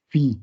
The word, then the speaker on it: phi: Phi se escribe así y se pronuncia phi.